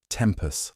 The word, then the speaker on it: tempus: "You mispronounced tempus last week," she said. "I know. The second syllable is short.